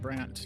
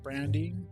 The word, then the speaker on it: Brante: I'm pretty sure that's how it's supposed to be pronounced, Brant, not Brandy.